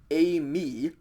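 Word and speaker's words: εἰμί: you look at this it's pronounced a me epsilon iota with a a smooth breathing mark then mu iota a me and this means i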